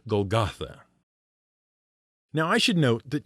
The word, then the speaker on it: Golgotha: jerusalem's gates that was known in aramaic as place of the skull or gagalta in hebrew it was called gogolet the greek pronunciation is golgotha and why all the